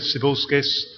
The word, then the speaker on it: Cibulskis: My name is Cibilskis.